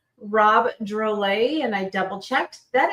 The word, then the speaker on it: Drolet: Rob Drole. And I double checked that is how we say his name. Yep. Drole. USA. Drole.